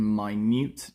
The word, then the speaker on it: minute: study the insects in my newt detail spelt the same as minutes pronounced my newt uh yeah okay earth's